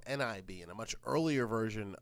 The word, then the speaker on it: XIB: They used to be called NIB in a much earlier version of iOS. We call their XIB files now, but we still pronounce it nib.